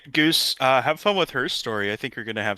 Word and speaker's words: Her Story: All right, Goose, have fun with her story. I think you're gonna have some good times. Little known fact, it is actually pronounced herstory, so Okay, I'll make